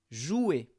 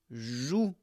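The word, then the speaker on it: jouent: Il joue. Il joue. Le E et le N et le T. C'est pour la terminaison. On ne le prononce pas.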